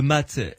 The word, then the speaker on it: mat: D'abord, c'est la carte qui s'appelle le mât ou le mat, M-A-T, hein, ça s'écrit.